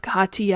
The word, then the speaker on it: Kathiya: connect with her um please spell her name k a t h i y a and that is pronounced Kaa and you can write